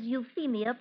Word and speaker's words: Euphemia: i the name is Euphemia Prescott miss the pH is pronounced with a sound of F well one of you